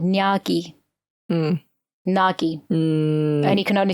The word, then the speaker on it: Gnaghi: Nagi. And he can only say nya. Nya. Which is not like nya, cute cat. Well, it sounded like Nagi, as in like a snake, or something.